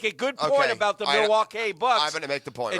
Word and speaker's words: Milwaukee: last night lost to Dallas without actually it's pronounced Milwaukee I'm sorry which is Algonquin for the good